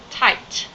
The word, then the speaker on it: tight: bad guys this ting tight tight I can untie the nut is too tight tight IgH is pronounced as I gah poof are in okay